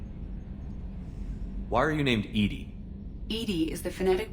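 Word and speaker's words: EDI: a specific inquiry why are you named ed ed is the phonetic pronunciation of Ed I that is an acronym for enhanced defense intelligence how are you getting along with Joker mr.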